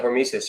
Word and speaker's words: hormesis: And you know, that's what you've done with, believe it or not, with the Hormesis thing. Did I pronounce that right? Yeah, Hormesis.